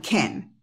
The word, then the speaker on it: can: I can think Okay el acento va en Ken Y se pronuncia K